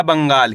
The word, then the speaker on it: बंगाल: आधा न का उच्चारण तेजी के साथ निकालना है। कैसे? ब में अनुस्वार की मात्रा बंग। गा मा की मात्रा गा ल। तो मिलके बन जाएगा बंगाल।